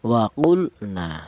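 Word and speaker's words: وَقُلْنَا: Maka lam matinya ini dibaca izhar atau dibaca jelas. Jadi artinya izhar itu dibaca jelas ya. Wa jangan dibaca ikhfa atau samar. Jangan. Wa salah ya. Yang benar dibaca idhar. Artinya idhar itu dibaca jelas bahwa di sini lam matinya dibaca jelas. Waqulna seperti itu.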